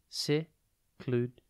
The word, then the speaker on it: secluded: It is pronounced secluded, and it is spelt S-E-C-L-U-D-E-D. Think sec, lud, and then ed.